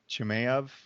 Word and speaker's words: Chimaev: Kazmat Chimaev or Chimaev has.